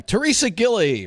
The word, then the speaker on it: Theresia Gillie: day is I got it right this time Teresa Gilly right Teresa yes that's that's it that's right